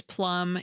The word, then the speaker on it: plumb: Well, first, the plum out of things plum is spelled with a B at the end.